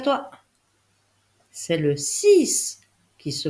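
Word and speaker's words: six: C'est le 6 qui se prononce S en lettre finale et pourtant il s'écrit avec un X.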